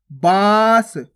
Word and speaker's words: बास: ये क्या हो जाएगा बांस बांस केवल नाक से उच्चारण हो रहा है तो बांस और यहां पे कैसे कर रहे हैं अपन बास बास नाक और मुह दोनों से उच्चार हो रहा है अब